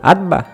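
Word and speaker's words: Abba: si le quieres decir como yo le digo atba bueno s se pronuncia pero se escribe a b b a que viene del arameo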